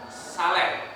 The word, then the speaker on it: saleh: akan menjadi seorang yang Saleh atau Saleh kita sebutnya saleh ya bacanya Ya Saleh p dan pemilik